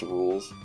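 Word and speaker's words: Rouxls: I love how nobody knew how to pronounce Rules' dumb as fuck name, so Toby named his battle theme It's Pronounced Rules.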